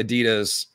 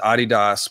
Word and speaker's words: Adidas: Adidas is the wrong pronunciation as we learned a couple weeks ago on the show. It's only we Americans who say Adidas. The rest of the world says Adidas because they're named after a guy who invented the shoes called Adi Dassler.